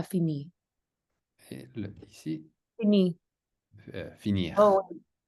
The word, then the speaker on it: finir: J'ai des trucs à finir. Et ici, Fini. finir. Oh, oui. Finir. Donc, le R, on le prononce. La R la pronunciamos al final. ¿La pronunciamos o no? La R sí, casi siempre sí.